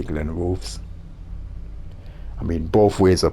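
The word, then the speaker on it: Glenrothes: Glenn Roes with Fon Glenn Rus is the correct way to say it but I I can't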